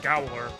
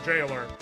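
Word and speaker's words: gaoler: you know the jaer using that I did pronounce it goler but I knew it was like a jail or a person watching the jail for Jailer but I did not know that's how it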